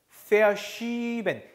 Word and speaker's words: verschieben: Verschieben. 이 애는 이를 길게 발음한 거죠.